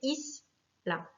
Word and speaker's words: isla: Le mot isla, pareil, finit par une voyelle, un A, donc c'est la première syllabe qui va être accentuée, isla.